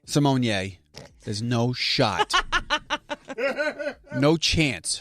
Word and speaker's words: Simone: Raven Simone decided to come out and say it's actually Simonier. Simonier.